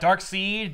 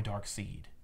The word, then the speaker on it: Darkseid: The company-wide email, hey, everybody, all creators, all people who work at DC, remember that S-E-I-D will spell seed for the next foreseeable future.